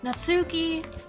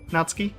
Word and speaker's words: Natsuki: anyway this is nuts natsuki natsuki yeah i don't think you pronounce the u really okay i think i